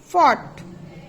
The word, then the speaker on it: fought: That is थ्रॉफ, तो it is GH are pronounced. Okay, F. Enough, F. Haughty. Draft, F की sound आ रही है. Fought, no sound.